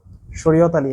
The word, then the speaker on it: শরীয়ত আলী: শরীয়ত, সেই খুব সুন্দর নাম, শরীয়ত আলী। হ্যাঁ, নামের বানানটার সাথে আর কি মিলতেছে না, এর কারণে উচ্চারণ করতে ভুল হয়ে গেছে।